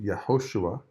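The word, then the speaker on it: יהושע: does Joshua's name mean in Hebrew well it's pronounced yahushua and it means the Lord saves who will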